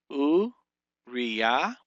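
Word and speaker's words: אוּרִיָּה: U, Riya. You have U, the aleph with the shurik, the resh with the hirik and the yod, giving that re sound, uri, and then because there's a dagesh in that yod right there, that's telling you that it starts another syllable with a yod, comments hey, uriya.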